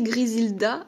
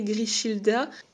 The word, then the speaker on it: Grishilda: Puis Grishilda, alors ça s'écrit, on peut le prononcer Grisilda à mon avis, mais moi j'ai vraiment envie de l'appeler Grishilda.